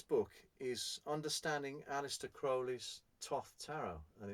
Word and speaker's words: Thoth: Now, incidentally, Thoth, whilst it looks like it's Thoth, it is not. It's pronounced Thoth.